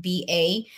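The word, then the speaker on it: Weruva: It's Weruba. And it is the people that started Waruba, the Wee, Roo, and Ba is a combination of all three of their pets' names.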